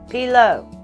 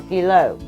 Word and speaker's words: pilau: is a Pila uh how did they say it pilo it's spelled p-i-l or a u and then s plural